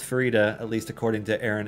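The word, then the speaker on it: Farideh: it's yeah because he's rad is it it's pronounced Farida I was pronouncing it Faraday the whole time no it is so it is officially pronounced Farida at least according to Aaron em evidence who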